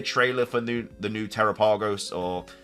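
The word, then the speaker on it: Terapagos: just be a trailer for new the new terrapagos or terapeagos like Pokemon that we um tarapa ghost apparently is how you pronounce it now so I do apologize I've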